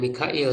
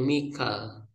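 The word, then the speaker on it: ميكال: menggunakan qiraat apa ya Jadi tidak Mikail tapi Mikal Jibril apa Mikal?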